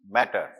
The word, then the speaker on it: mater: is covered by meninges matter. It is not, the pronunciation is not M-A-T-T-E-R, it is the M-A-T-E-R, matter means mother.